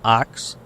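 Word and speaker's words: Ochs: say his name right pronounce o-c-h-s thank you youtube has everything go go go hello oops i'm sorry phil ox okay thank you thank you sir thank you sir ox thank you so i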